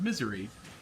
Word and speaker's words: Missouri: Missouri. Now, Missouri is pronounced misery for a reason.